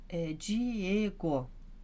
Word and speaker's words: Diego: Continuando aqui, Diego, Diego, então o E que é o forte, é a sílaba tônica, então também é uma paroxítona. Aqui, tá, como que é o nome?